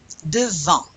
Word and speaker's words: devant: Do you pronounce the NT? Devant. You really have to drop your chin to get that nasal.